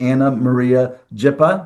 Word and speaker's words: Ana Maria Jipa: I'm really excited to speak with Anna Maria Jippa. Did I pronounce that correct, Anna?